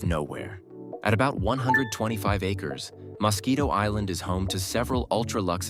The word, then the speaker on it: Mosquito Island: In 2007, Branson bought Mosquito Island, and yes, that's exactly how you say it, for about $10 million.